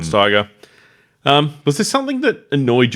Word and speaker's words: Steiger: Like Steiger or something. G-E-R, maybe Steiger, yeah. Rod Steiger.